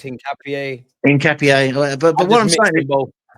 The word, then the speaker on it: Hincapié: like your Keppers, your Norgards, your Mosqueros, and Hincapié. I can never say his name right. It's Hincapié, isn't it? I got like 1 minute I'm told it's Hincapié, Unks, and then I'm told it's Hincapié.